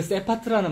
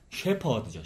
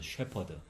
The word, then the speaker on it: 셰퍼드: 근데 그 세파트라는 말이 영어인데, 영어나 독일어도 스펠링이 똑같더라고요. 원래 독일에 족보 있는 개의 품종이더라고요. 이게 쉐퍼드가. 그러니까 원래 영어 발음은 쉐퍼드죠. 쉐퍼드.